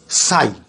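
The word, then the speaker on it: ψ: এটার নাম হচ্ছে সাই। এটাকে উচ্চারণ করব সাই এক্স।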